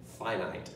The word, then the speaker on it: finite: infinite infinite it's infinite and finite two long i sounds so what is a finite set as opposed to